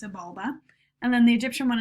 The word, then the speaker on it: Xibalba: it is pronounced Xibalba it's spelled with an X but it's pronounced Sebulba and then the Egyptian